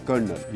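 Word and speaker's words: colonel: अंग्रेजी का एक ऐसा ही शब्द है कर्नल जिसकी अंग्रेजी में spelling C ओ एल ओ एन ई एल है। लेकिन जब इस शब्द को बोला जाता है तो यह हो जाता है कर्नल। यानी अंग्रेजी की स्पेलिंग में कहीं भी रा या यूं कहें कि आर नहीं है। फिर भी इसे बोलते वक्त रा यानी आर शब्द का प्रयोग होता है।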